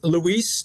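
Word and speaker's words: Luis: that back court for St John's and RJ Lise is that how you to pronounce it that's correct another guy who's stepping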